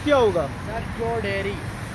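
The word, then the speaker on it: Chau Dairy: सर चौ डेयरी। चौ डेयरी? यस सर। ये चौ डेयरी है, चौधरी नहीं है, मैं गलत था।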